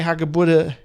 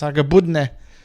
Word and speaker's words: Hagebutte: Where he doesn't say Hagebutte or Hagebutte, he says Hagebudne.